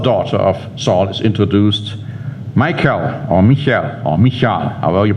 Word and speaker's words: Michal: Because now the other daughter of Saul is introduced, Michal, however you pronounce that. Now, I say Michal because I believe that's how the Hebrew would pronounce it. I don't know how the Americans do.